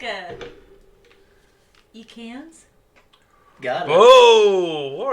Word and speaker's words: Ekans: You say it like Ekans. Ekans.